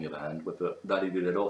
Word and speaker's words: らりるれろ: You're pronouncing it essentially the same way as the Japanese R. That butter is the same sound as the ra, ri, ru, re, ro sound in Japanese.